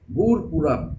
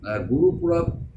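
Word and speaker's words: Gurpurab: Gur Purab is the name. Sometimes it is pronounced Guru Purab, and in some places Gur Purab. But what is written in your book, you have to follow.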